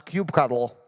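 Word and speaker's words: kubectl: participate in devops they definitely know how to pronounce cube cuddle that's very important and that makes you a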